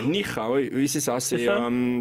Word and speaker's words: Níjar: Alors si je prononce bien, c'est Níjar. Níjar, oui, c'est ça.